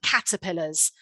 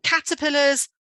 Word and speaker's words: caterpillar: can show them that the stress is on the first syllable caterpillar and then you can